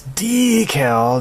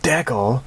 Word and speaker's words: decal: I swear Gary bass as its decal not deckle I'm tired of hearing you all mispronouncing it mispronouncing is that like